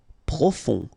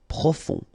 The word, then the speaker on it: profond: Profond. Final D not pronounced. O-N, on. Profond.